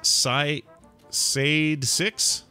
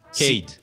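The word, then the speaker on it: Cayde: Sade 6? Cade.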